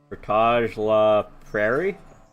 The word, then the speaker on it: Portage la Prairie: Portage la Prairie? If you want it to be French, sure. But everyone just says Portage. They don't even bother saying La Prairie. Just Portage.